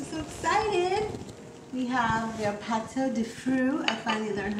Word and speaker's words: pâte de fruits: We have your pâte de fruits.